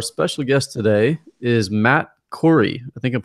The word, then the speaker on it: Khoury: be us our special guest today is Matt Cory I think I'm pronouncing your last name correctly right yeah you